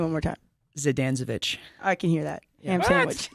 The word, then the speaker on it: Zdanczewicz: what say your last name one more time zidanezovic I can hear that sandwich yes wait that's